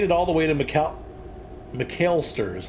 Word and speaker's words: McAlester: We've made it all the way to McAlester is how that's pronounced.